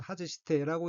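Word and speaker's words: 外して: 셋째 줄 맨 왼쪽 어휘는 한자가 바깥 외자가 들어있고 일본어로는 하즈시테라고 읽으며 하즈시테는 떼다, 떼어내다, 빼다, 벗기다는 뜻의 타동사 하즈스의 태형으로 하즈시테는 떼어내고 벗고의 뜻입니다.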